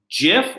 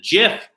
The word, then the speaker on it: GIF: I am informed correctly Jif or gif either once acceptable but in preparation for this tribute I I read the article in which the creator of the jiff prefers the jiff pronunciation as if in the peanut butter Jeff so I went with